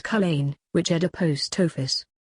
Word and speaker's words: Culzean: So it was on Mavis that Bren rode across to the next town, Culzean, pronounced Culzean, which had a post office.